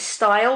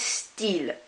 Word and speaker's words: style: the word style okay in French there instead of pronouncing it style which is the very English pronunciation of it instead it's still still just like the word still Oh which means pen that we learn in year 7 this one is steel which means style be careful with worst